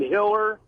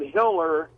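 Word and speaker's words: Tiller: There's this doctor abortionist named Hiller, and they call him Hiller the baby killer. Baby killer. Right. You don't want your name to rhyme with killer when you're doing abortion.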